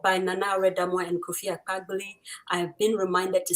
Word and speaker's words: Akpagbili: Kunda Kids, Book Nook by Nana Redamwa and Kofi Akpagbili.